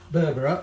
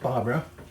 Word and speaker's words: berbere: a special spice mix berbera or it might be pronounced barbara i think it depends where you are now this is a